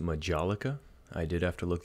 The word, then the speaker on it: majolica: right we'll grab another one here this one's pronounced Majolica I did have to look that up but